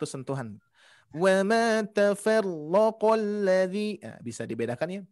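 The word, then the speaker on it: تَفَرَّقَ: Wa ma tafarraqal ladzi. Nah, bisa dibedakan ya. Tafarraqa. Nah, itu ya. Ditingkatkan lagi untuk pengucapan huruf ro-nya. Jadi tidak terlalu banyak getaran. Terus yang kedua, di huruf ma-nya barusan kepanjangan, hati-hati.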